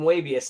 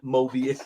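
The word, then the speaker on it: Moebius: Mabius, not Mobius.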